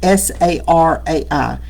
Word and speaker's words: Sarai: And the woman his wife's name was Sarai, S A R A I. And I had never known how to pronounce that until Bruce said it a couple of Sundays ago.